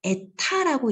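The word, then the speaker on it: η: 그래서 오스트발트 점도계에서는 다른 두 액체 1, 2와 절대 점도의 비를 요거 얘들아 에타라고 읽거든. 에타라고 읽는데 에타.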